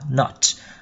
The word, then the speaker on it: not: Các em lưu ý là trong tiếng Anh thì cái chữ not người ta đọc là thành âm O, not. Còn ở phía người Mỹ thì người ta sẽ nói nó hơi A một tí.